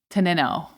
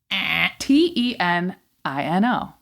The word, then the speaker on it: Tenino: So the first one was teno. T E N I N O. Teno. I can see it, but it's not. We were told from several individuals and then I went to confirm. It is tenino.